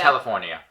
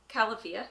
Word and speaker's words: Califia: We kept calling it California, but then we realized it was actually. No, so. Oh boy. Okay, what is it? So say it again. Califia.